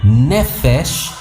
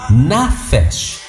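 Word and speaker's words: נפש: La palabra tiene dos formas de pronunciarse, realmente es una variante. La palabra se pronuncia nefesh o nafesh.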